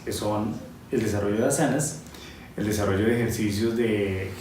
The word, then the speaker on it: asanas: Como es sánscrito, el acento en español no interesa tanto. Suena algo así como asanas, y lo puedes escribir con H o sin H.